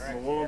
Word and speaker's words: Murwillumbah: Here we are today at Murwillumbah. I've said it right? Yes. Murwillumbah, yeah.